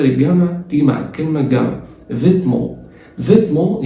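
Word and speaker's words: vêtements: فيتمون يعني الملابس. الاس ما بتتنطقش والتي ما بتتنطقش والان بتتنطق وهقول لك ليه كمان شويه مع بعض.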